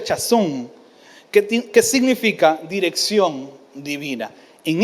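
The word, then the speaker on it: חָזוֹן: Y viene una palabra que significa, o se pronuncia chazón, que significa dirección divina.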